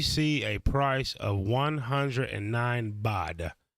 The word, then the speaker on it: baht: a price of 109 bod it's pronounced bad it feels like butt but it's bought anyway 109 bod easy